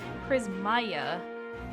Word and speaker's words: Prismaeya: guys weren't already aware, the way I say it is Prismaeya. But that's not necessarily correct, because I don't really give a shit. And so a lot of times people will call me Prismaeya, and I'm like, that's fine.